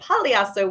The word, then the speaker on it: Pagliasso: Please welcome Anita Pagliasso with a silent G, Vice President of Industry Relations here at KHM Travel Group.